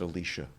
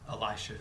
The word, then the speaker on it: Elisha: she goes to see we pronounce it Alicia the one after Elijah how do you pronounce it Elisha Elisha and it's the right one for tradition to pick